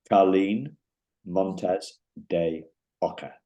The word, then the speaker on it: Carlyn Montes De Oca: I've got to pronounce this correctly. Carlyn Montes De Oca.